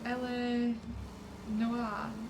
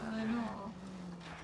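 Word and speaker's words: L.A. Noire: Is it LA Noire? No, LA Noire.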